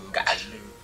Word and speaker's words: Ngaleux: Le nom Gal, je dois d'abord préciser qu'en langue féfé, le nom Gal se prononce Ngaleux.